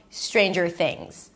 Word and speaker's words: Stranger Things: The next syllable is jur. Jur. You start with a j sound and you move it directly to the r. jur. Jur. There is no vowel in between. Stranger. And then the last word is things. Stick the tongue out for the th things. and end it with a Z because the S is pronounced as a Z.